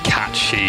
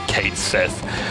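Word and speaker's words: Cait Sith: Although you'll never catch me pronouncing Catchy as Kate Sith.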